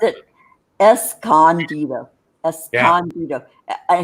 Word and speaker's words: Escondido: But the city of Escondido. Yeah, I was just going to say that. Yeah. Michael Omnieris, one of his people that he talks about lives down there, and he always pronounced it Escondido. Escondido.